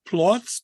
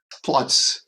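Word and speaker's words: Płock: Uh, another town that I mispronounced. Plots. P L O C K. Plots.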